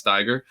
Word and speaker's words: Steiger: both the staggers are i think it is pronounced tiger by the way uh yeah the good old german if the i comes after the e uh it makes an i sound so it's steiger and uh yeah um